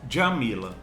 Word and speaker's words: Djamila: Aliás, Djamila, né? A pronúncia correta é essa. A Djamila, ela tem um conceito que ficou muito famoso, né?